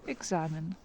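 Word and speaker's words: экзамен: Here the stressed sound is A. E is not stressed, and we pronounce it not strong way, and it will be examine.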